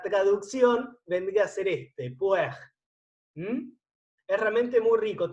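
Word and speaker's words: Pu-erh: Se llama té rojo y en japonés se escribe así: P, U, un guión en el medio, E, R, H. Puer.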